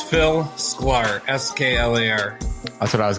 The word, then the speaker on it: Sklar: last name i think i know how to pronounce it but uh can you introduce yourself yeah so it's phil square s-k-l-a-r that's what i was gonna go for